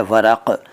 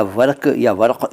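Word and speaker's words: वरक़: पहला शब्द है वरक। इसको कुछ लोग वरक या वर्क कह देते हैं, वो गलत है। सही उच्चारण है वरक।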